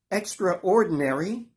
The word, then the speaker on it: Extra Ordinary: do please partake now I pronounce the title extra-ordinary which is not what we do in the States here we say extraordinary but the title is deliberately written that way as two words Extra Ordinary the film